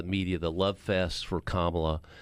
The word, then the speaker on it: Kamala: Again, I'll say that this is the high water mark right now for Kamala. Rhymes with communist, at least on that initial sound, Harris.